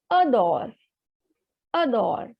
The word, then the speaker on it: adore: r e so a the vowel is coming at the beginning so the pronunciation will be ador ador because a door is